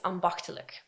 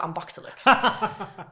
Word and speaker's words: ambachtelijk: but I can remember ambachtelijk. so yeah, that's... Your pronunciation is quite Thank good, you. because the CH is a really hard sound for, let's say, native English people.